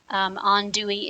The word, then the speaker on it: andouille: my first time using Zatarain's andouille sausage on Dewey is the pronunciation for that word in case you're curious